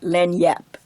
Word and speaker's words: lagniappe: J's Len yep doesn't it's not spelled like it sounds and I don't have the Louisiana accent but it is very it's a very flat word lend yep and and that's what